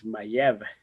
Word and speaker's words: Maya: Uh, in the Mayan world, the Maya is actually a mispronounced word from the actual word that is Mayev, which means people.